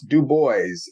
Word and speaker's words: Du Bois: pronounce it Deo uh he was a stickler for his name pronunciation that he would repeatedly uh remind people who who mangled his last name it was pronounce du boys in the English form so I think it